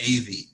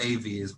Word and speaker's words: Ewy: German but it's pronounced AV so like if you ever curious and confused it's like two letters an A and a B so AV is my name and